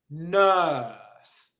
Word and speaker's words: nurse: the first point is the vowel sound in the word is nurse nurse it's a longing Glaus ound and the position of the mouth is there should be space for about one and a half fingers in between your teeth okay really there shouldn't